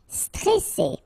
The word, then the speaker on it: stressé: Okay, remember you got double S here, so you pronounce it really strong while it's between two vowels. So C, Alright, and then here you get this E before the double S, so it will open the pronunciation of the E. Est stressé, stressé. Stressant, okay, final T not